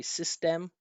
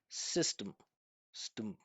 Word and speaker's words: system: I would not say system, stem. When I pronounce this with my natural pronunciation, there's no vowel sound in that unstressed syllable. System, stum, stum, stum. And again, what you're hearing is vibration.